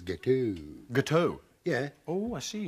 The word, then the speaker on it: gâteau: Yeah, the X is silent. I thought with your French-Canadian connection, you would have known that. Gâteau. So it's gâteau as opposed to gâteaux.